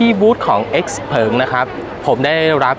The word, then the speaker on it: Xpeng: เป็น ทาง การ แล้ว ออก เสียง ว่า x เผิง นะ ครับ ส่วน ชื่อ ใน ประเทศ จีน ที่ เขา ทำ ตลาด เนี่ย ก็ อ่าน ว่า เสี่ยว เผิง สำหรับ รถ ยนต์ ไฟ